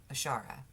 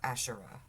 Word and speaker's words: Asherah: our original mother goddess, whose name was Ashara, or Asherah is how you could pronounce it as well.